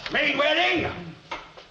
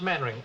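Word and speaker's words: Mainwaring: Main wedding. Ah, do sit down, C. Thank you. Actually, it's pronounced mannering. Well, why the devil don't you spell it?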